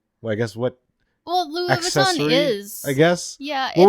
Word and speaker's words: Louis Vuitton: How do you pronounce it? Louis Vuitton.